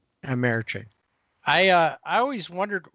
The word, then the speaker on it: TD Ameritrade: And I I mispronounce it's TD Ameritrade. Trade. Yes. So not America. Not something easy. Amerit trade. Amerit trade.